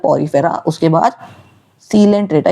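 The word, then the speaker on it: Coelenterata: उसके बाद सीलेंट्रेटा। इसे कोई भी कोइलेंट्रेटा नहीं बोलेगा। बहुत बच्चे होते हैं जो इसकी प्रोन्सिएशन गलत करते हैं। ये कोइलेंट्रेटा नहीं है। ये है सीलेंट्रेटा। यहां पे ओ साइलेंट है।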